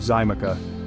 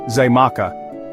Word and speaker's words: Xaymaca: The X sound, which the Taino pronounced as shach, was interpreted and transcribed into Spanish script, eventually evolving into a J sound.